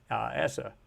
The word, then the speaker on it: ESA: is as it was captured by essa or esa depending on how you want to pronounce it i can't do that